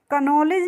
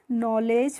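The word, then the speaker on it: knowledge: पढ़ते हैं इसका भी सिंपल सा रूल होता है के के बाद जब भी किसी वर्ड में आपको एन दिखेगा तो वहां पे आप को का प्रोनाउंस एशन नहीं करेंगे यानी कि के का उच्चारण नहीं करेंगे ठीक है इसीलिए इसको हम क नॉलेज नहीं पढ़ते हैं क्या पढ़ते हैं नॉलेज पढ़ते हैं और नॉलेज का मतलब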